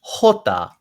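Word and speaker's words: jota: next word the j this letter doesn't sound anything like the letter but it's hota hota and i hear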